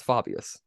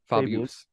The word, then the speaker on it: Fabius: I say faan well if you want to pronounce it like the actual Latin it's Fabius Fabius Fabius Fabius Fabius um